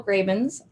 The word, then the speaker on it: Gravens: Now I would like to officially introduce our guest, Carol Gravens. I didn't ask you if that is how you pronounce your last name. That is how I pronounce it.